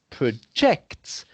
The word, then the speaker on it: projects: the intonation emphasis accentuate accentuation on the second syllable acts you see whereas